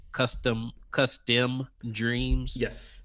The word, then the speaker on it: cuSTEM: pretty interesting names like custom custom dreams yes it'll be pronounced like custom dreams yep but it's spelled